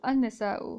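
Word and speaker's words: النساء: we have anessa now this is a word that many people mispronounce and it aches every time i hear it okay that was a bit dramatic anyways so annisa we have the letter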